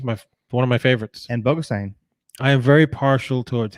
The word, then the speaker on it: Bogosian: Bogo, because they gave up nickname, and Bogosian, which Bogosian's the way it actually is.